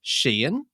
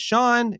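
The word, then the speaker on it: Shein: well from from now did you know that it's pronounced Sheen you know the other one that you get the ads for yeah I thought that was interesting because everyone always goes is it Shan is it Shane no okay I'm G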